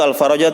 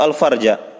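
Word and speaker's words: الفرج: bersabar dan menunggu alfaraja bacanya itu alfaraja atau alfarja ha salah tar harakat itu beda artinya itu panto apa panto Alf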